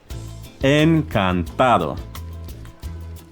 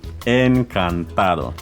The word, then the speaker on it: encantado: Remember to be soft on the D.